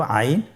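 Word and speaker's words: عين: আইন হরফটি উচ্চারণের সময় অবশ্যই তিন আলিফ টেনে পড়তে হবে। এখন আইন হরফটি বারিক হরফ। পাতলা করে পড়তে হবে। আপনার আমার সাথে বলুন আইন। আবার বলুন আইন আইন আর হরফটি কন্ঠনালীর মধ্যখান থেকে উচ্চারিত হয়।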